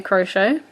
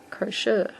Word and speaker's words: crochet: A lot of people say crochet, but a lot of Australians say crochet. So if that's wondering why I say it that way, that's why. So how do you say it? Do you say crochet with, S-H-A-Y on the end?